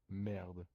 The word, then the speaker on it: merde: No, just like the R to make an accent on the R.